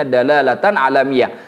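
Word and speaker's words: دلالة: wafatihi dan sifat-sifatnya dalatanamatan ini jangan dibaca dalalah ilmiatan tapi dibacanya dalalatan sebagai dalil alam alam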